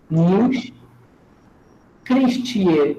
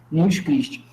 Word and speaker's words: Nils Christie: Nils, N-I-L-S, Nils Christie, C-H-R-I-S-T-I-E. Isso, perfeito. Nils Christie.